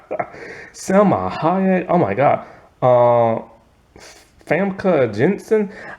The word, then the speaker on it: Famke: Famke Jensen. I've been saying her name wrong for the longest time. I never saw the M. I just been calling her Funka. I never saw the M till now.